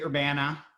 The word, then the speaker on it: Urbana: and i do want to thank brenda for pronouncing that right we do say urbana in illinois um and as my bio mentioned